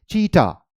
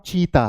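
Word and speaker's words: cheetah: pronunciation वही है जंगल चीटा इट्स नॉट चीता हम इंडिया में हम जब अपने प्रशन में बोलेंगे तो हम इससे क्या बोलेंगे चीता बट इट the actual pronunciation is चीटा चीटा so wild cat ओ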